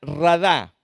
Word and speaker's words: radá: Y usa la palabra hebrea radá, con acento en la A, que quiere decir estás a cargo de la tierra.